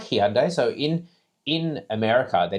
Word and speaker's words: Hyundai: So, um, and now every time we put out a Hyundai video, people like, "It's Hyundai." People like, "Why are you pronouncing it like that? It's Hyundai, like Sunday."